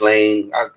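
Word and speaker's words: Ghislaine: If y'all know who Gain Just Lane Gain Maxwell who her dad was. S the S is silent.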